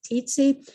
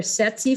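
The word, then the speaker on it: tsetse: the sexy flies that some people pronounce it teetsy but they're sexy flies um and then I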